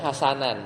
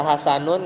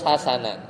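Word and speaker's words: حسنًا: Maka bacanya hasanan tuh wajib mansub. Enggak bisa hasanun, enggak bisa hasanin bacanya. Harus hasanan.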